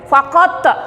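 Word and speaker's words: فقط: Fakot, nah ini bacanya harus kolkolah ya nak.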